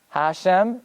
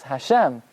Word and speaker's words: Hashem: it's Baruch it's not Atta ATA it's not Hashem it's Hashem can you emphasize the last solo um and